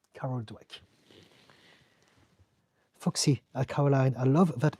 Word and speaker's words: Dweck: It's not Carl Drake. It's Carol. It's a woman. Carol, and Dweck is spelled Dweck. Carol Dweck.